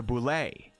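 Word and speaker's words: bulette: was created for the boulet and i guess it is boule and not bullet somebody corrected me in the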